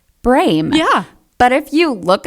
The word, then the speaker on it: Brehm: on the brain because our last name is pronounced brain yeah but if you look at our last name brem brem yeah it's b-r-e-h-m everybody says brem like you know like and i say it's